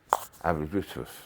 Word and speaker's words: Aberystwyth: Yeah, Aberystwyth, that's what it's called, pronounced.